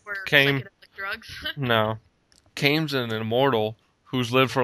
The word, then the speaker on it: Kaim: The main character's name is, it's Kame, I guess. It's K-A-I-M. I'm just going to go with Kame is how you say it, or Kaim.